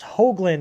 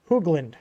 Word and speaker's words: Hoagland: time for anybody wondering my last name is pronounced hoagland like you a hoe like ho ho um it's hoagland not hoogland just uh fyi here um